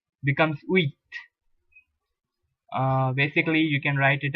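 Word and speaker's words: huit: not set set wait in french language when you have an h in the beginning like i told you you do not pronounce it in french it is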